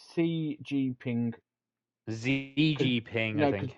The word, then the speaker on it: Xi Jinping: But I think CG Ping, isn't it? it's Xi Jinping. ZG Ping, I No, because think. the X is pronounced as a C in Chinese, so it'd be Xi Jinping.